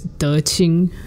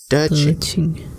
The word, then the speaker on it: De Qing: Her name, her Dharma name is De Qing. So it's D-E space Q-I-N-G. So Q is always pronounced like C-H. Mm-hmm. De Qing.